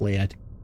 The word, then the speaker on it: lead: actually steel and also it actually is pronounced lead now we've got a